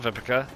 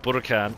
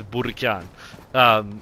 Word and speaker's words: Burakan: It's not Vipica. It's pronounced Burakan. I had the translation wrong. I had it set to, I think, Czech. It's not Czech. It's Russian. And in Russian it's Burakan.